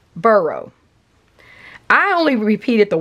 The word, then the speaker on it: Boro: So if we look at something like burrow, I only repeat it the way I've heard it, okay? I've heard it burrow. I went with Boro, like B-O-R-O.